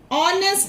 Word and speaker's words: honest: For example, here also, honest man. We don't say honest man. Why? Because H is silent here.